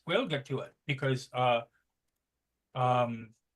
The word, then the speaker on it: Ogham: We'll get to it because Om is, and of course it's spelled Ogham. Om is the Irish runic lettering, read from bottom to top. I believe that's Ogham. No, it's Om. No, Ogham. There's a G there.